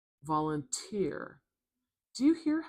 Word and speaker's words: volunteer: Another clue as to why the stresses at the end here. Do you hear that t sound? Listen when I say it again. Volunteer. Volunteer.